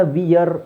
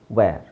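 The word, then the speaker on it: where: ಮಾಡಬೇಕಾದ್ರೆನು ಕರೆಕ್ಟಾಗಿ ಯೋಚನೆ ಮಾಡಬೇಕು ಇದನ್ನ ವಿಯರ್ ಅಂತ ಹೇಳೋದಲ್ಲ ವಿಆರ್ ಅಲ್ಲ ವೇರ್ ವೇರ್ ಅಂದ್ರೆ ಧರಿಸು ಸರ್ ವೇರ್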